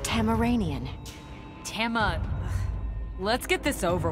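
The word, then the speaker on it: Tamaranean: your life for Norris so you're tazm manian it is pronounced tamaranian Tama let's get this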